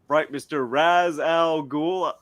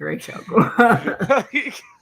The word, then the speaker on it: Ra's al Ghul: when it comes to Ra's al Ghul. My goodness. Well, I think they did that because Ra's is like it's what is it, Arabic, right? It's an Arabic name.